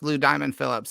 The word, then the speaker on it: Lou Diamond Phillips: we should specify it's still pronounced blue diamond phillips it doesn't change the pronunciation just how you write it yeah all right so